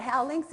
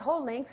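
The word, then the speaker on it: Hou links: She said, Judy, that's not Howlinks, it's Holinks, and that's not where you live.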